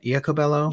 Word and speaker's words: Iacobello: So first panelist I'd like to introduce is Wendi Iacobello. Wait, did I pronounce that right? Iacobello?